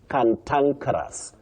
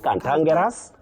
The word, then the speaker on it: cantankerous: But this word you say canankeras. Canankeras. Not canangas. Not kangaras.